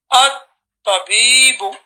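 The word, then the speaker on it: الطبيب: And here you say this ta is a Shamsi letter, so you say at-tabibu.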